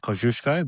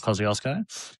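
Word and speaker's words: Kosciuszko: So the tallest mountain in Australia is Mount Kosiosco. It's it's a Polish name, so it's pronounced Kushko, but we call it Kiosco.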